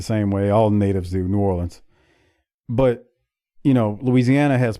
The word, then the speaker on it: New Orleans: say like you know it is New Orleans and not New Orleans as Tony said there or or you'll hear people say New Orleans that's not how it's said but the funny part is the city is New Orleans but the parish is Orleans Parish that's how you say it don't ask me any questions it's just how it is so they're GNA start